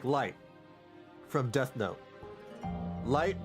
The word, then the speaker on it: Light: Light is supposed to be pronounced as light. But in Japan, they keep calling him Reto. So everybody thinks, you know, he's actually called Reto, but no, he's light.